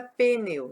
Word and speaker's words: pneu: O P não pode ficar sozinho, por quê? Porque ele não tem uma vogal. Não é pneu. Ninguém vai ficar falando, o meu pneu furou. Pneu não, é pneu. O P, ele é uma letra que tem som, mas é um som fraquinho. Não forma sílaba se não tiver uma vogal.